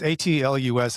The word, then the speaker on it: Atlas: I spelled I I said it wrong and I when I was talking to Jonathan Harris, it's it's atlus, I I just can't say it.